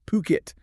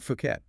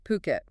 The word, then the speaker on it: Phuket: And just so everyone's clear, it's pronounced Puket. Heard that one wrong a few times. Not Fuket. Huh. Yeah. Puket.